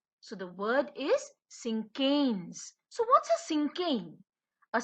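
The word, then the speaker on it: cinquain: this word exactly is and how do you pronounce this word this is a sinken so the word is sinkheans so what's a sinking a sinking is a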